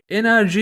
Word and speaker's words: NRG: Energy! Enerji yani isim telaffuzu olarak enerji, Benten Alien Force serisinde karşımıza çıkan bir uzaylıydı.